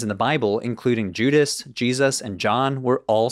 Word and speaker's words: Jesus: they were finally differentiated add some influence from Germanic languages which makes the S between two vowels sound like a z and we finally arrive at Jesus but let's complicate this